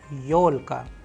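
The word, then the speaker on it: ёлка: do we have used the Russian word yolka Leo Alka where you can see the stress is on you because it is also a verbal that is why Yeol cut the sound of yo is coming very strongly and it is known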